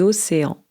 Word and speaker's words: océans: Vous voyez, la prononciation est très différente. En anglais, c'est Ocean. En français, les océans, par exemple, l'océan Atlantique, l'océan Pacifique et cetera.